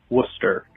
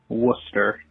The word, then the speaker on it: Worcester: You've mispronounced it wrong a few times. It's Worcester. Very simply, Worcester.